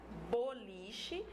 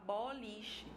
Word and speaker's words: boliche: Eu tenho, por exemplo, a palavra boliche. Eu posso falar boliche ou eu posso falar boliche. De qualquer jeito que eu pronuncio, o significado fica o mesmo, tá?